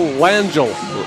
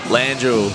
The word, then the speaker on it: Langell: It's just simple Langell. Langell. Accent on the first syllable.